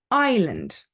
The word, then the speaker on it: island: no sorry not Castle Island okay the S is silent Isle Island then we have a